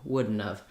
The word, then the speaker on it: wouldn't have: not really released, so it's almost like wouldn't. It doesn't go right to the N. You do have to stop the air for the D, but this may help you when it comes to pronouncing would not have the way native speakers do, wouldn't have.